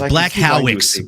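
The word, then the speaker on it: Błachowicz: I'm pretty sure it's Jan Blachowicz. Or no, sorry, it's Blachowicz.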